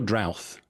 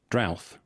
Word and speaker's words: Drouth: obviously now is it is it drift or drought? Drath. I mean, we're uh we're not particular. We we say a drought, but I I know that the word can be pronounced uh one of a couple of ways, and so I've heard pretty much all of them at this point. If you say Drath, I'll say Drath.